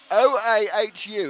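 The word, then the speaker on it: Oahu: It's O a HU.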